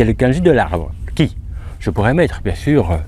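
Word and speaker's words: 木: Donc, comme on le connaît, on met le kanji de l'arbre, ki, donc on sait que ça se prononce ki.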